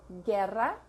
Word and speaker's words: guerra: If it does not have this sign on top, it's silent. So, guerra, guitarra.